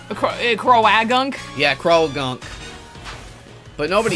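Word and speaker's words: Croagunk: I like that the A is just We've all decided that the A is silent. Crowagunk. Yeah, Crow Gunk, but nobody pronounces it like that. It's Krounk.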